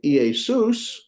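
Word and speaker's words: Ἰησοῦς: Notice that you have the EA. There's two different vowels, and they're not a diphthong. So guess what? That's two different syllables. Okay. Sus. Us is the diphthong. And of course, it has a sigma preceding and following it. So Iesus. Jesus.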